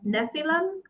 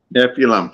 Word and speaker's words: Nephilim: Nephilim? Nephilim, yeah.